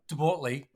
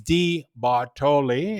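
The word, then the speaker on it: De Bortoli: And I was, and how do you pronounce it in Aussie? Debortoli. Yeah. And because Di Bartoli is spelled D, capital D-E, capital B, okay, is Di Bartoli in Italian.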